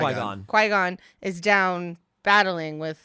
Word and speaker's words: Qui-Gon: But Qui-Gon, I'm saying it right. Qui-Gon.